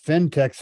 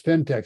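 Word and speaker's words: Phentex: get the wrong stuff you want to type fintechs and fintech is spelled p-h-e-n-t-e-x craft and slipper yarn that's very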